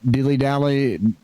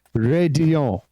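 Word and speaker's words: Raidillon: seen daffodil Dylan Ray dilly-dally none of those all new but the the correct pronunciation officially is radio the elves actually end up being silent would you believe show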